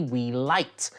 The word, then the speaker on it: Weeylite: In today's episode, we're reviewing an RGB video light from the company Weeylite. I'm pretty sure that's how you pronounce it.